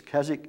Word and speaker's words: Keswick: remember that's k-k-e-s-w-i-c-k about the w is silent in the english pronunciation it's keswick england up in the